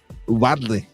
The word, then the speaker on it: Uvalde: And going to Uvalde, and I never am able to pronounce it. Uvalde.